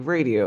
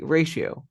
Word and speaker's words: ratio: Ex Aspect radio, It's not like radio, it's like ratio. Because remember ratio, that after the T, you pronounce like R, ratio.